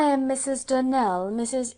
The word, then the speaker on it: Donnell: "Clarissa Almira told me that you pronounce our name Donnell. Now, Miss Shirley, the correct pronunciation of our name is Donnell, accent on the last syllable.